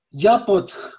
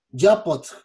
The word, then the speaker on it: Yapxöt: Y en la lengua concac es con el estómago, Yapotl, es con el abdomen, Yapotl.